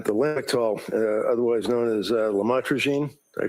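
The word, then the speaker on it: lamotrigine: drugs about the u the llwise known as lamatroine. Did I pronounce that right? Lamotrograene.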